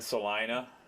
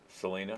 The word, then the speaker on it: Selena: Um, so I think Salina Selena, that's how you pronounce it.